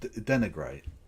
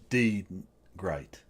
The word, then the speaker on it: denigrate: I thought that's okay trying to pronounce it D and then the rest of that word makes it sound very racist no it's just denigrate yeah not deed great like no that's no